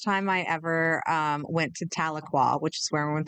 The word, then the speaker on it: Tahlequah: I remember the first time I ever went to Tahlequah, which is where I went to college.